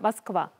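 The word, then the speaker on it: Москва: 수도는 쫙 여기 수도요, 모스크바. 여기서는 발음 고정하려면 마스크바. 러시아식으로 마스크바. 마스크바.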